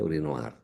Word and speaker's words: urinoir: Kalau urinoir bacanya urinoar.